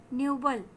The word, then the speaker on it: noble: नोबल, नोबल, न्यूबल, ये सही pronunciation है एज पर the phonetic symbol.